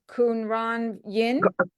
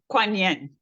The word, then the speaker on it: Kuan Yin: Kunran Yin? Oh, Kuan Yin.